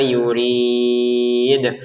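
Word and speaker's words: يريد: Untuk yuridnya kita baca enam harakat. Di ujungnya ada pantulannya dal ya. Karena dalnya ini harakatnya dommah tapi kita berhenti terbacanya sukun.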